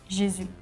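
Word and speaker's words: Jésus: it Jus maybe okay in France we do not have this autography so we have the accent on the U so we just say jizu in Spain we say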